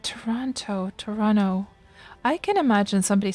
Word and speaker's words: Toronto: you moved to norway you started pronouncing the second t in toronto now you get made fun of for that when you visit your family oh so do people say toronto all right toronto toronto i can imagine